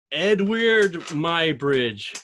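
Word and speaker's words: Eadweard Muybridge: is is this uh edward my bridge can you hear me it is but i prefer if you pronounce it edward edward my bridge wow this is amazing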